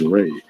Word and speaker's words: Ra: the ancient Egypt deity Rah the symbol of the ram deity of the sun fertility of life and growth which is pronounced as Ray as in the ray of the Sun the reverse of the